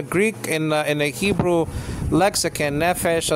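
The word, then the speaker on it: נֶפֶשׁ: Okay, nefesh in the Greek, in the Hebrew lexicon, nefesh is spelled out nun, pei, and then sheen with the diacritics there, segol, like an e, like in the word get.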